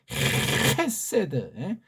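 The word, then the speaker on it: חסד: 이 발음도 헤세드, 하리스.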